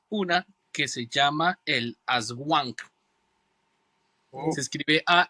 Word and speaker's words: Aswang: Eh, una de las más importantes y que está en casi todas las islas es una que se llama el Aswang. Se escribe a S u A n g.